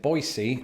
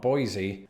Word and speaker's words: Boise: learned a couple of things firstly that locals pronounce it Boise and not Boise and also that in the states of Idaho